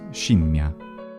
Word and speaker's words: scimmia: The letter S can also become a sh sound if followed by the front vowel E, like simiam, which becomes scimmia.